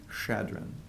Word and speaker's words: Chadron: Egan who had started a newspaper there the Sioux County Journal and he was very energetically promoting the site as Chadron CH ad ro n which was named after